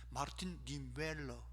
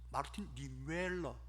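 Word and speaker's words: Martin Niemöller: 마르틴 니웰러, 독일어가 좀 우리하고 좀 다릅니다. 발음하는 게. 마르틴 니웰러.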